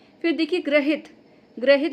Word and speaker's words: ग्रहित: ग्रहित लगता है हमें कि वो ऐसा वाला जो लगता है ना नीचे ऋ वो होगा। लेकिन नहीं इसमें यह वाला र है। ग्रहित की स्पेलिंग में ध्यान दीजिएगा कि हमें लगता है कि यह सही होगा ग में लेकिन नहीं यह सही है ग्रहित।